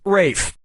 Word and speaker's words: Ralph: two yep RAF Fine's first name is spelled like Ralph but pronounced Rafe and his brother Joseph